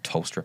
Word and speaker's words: Tollstrup: So I'm not buying into Callum Ah Tollstrup just yet. I think it's actually Tollstrup I keep hearing. it is Tollstrup, yeah.